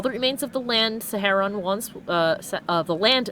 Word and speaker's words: Saharon: The fog dancers who travel with with that that city's name is pronounced Saharon. Saharin, sorry.